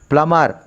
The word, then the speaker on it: plumber: B is a silent. The correct pronunciation is plumber.